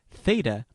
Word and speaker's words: Theta: Theta has the sound of TH in thin.